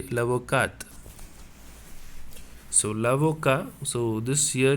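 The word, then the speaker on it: l'avocate: one lavoca in feminine we have to say lavokat so lavoka so this here you should not pronounce the t but here you have to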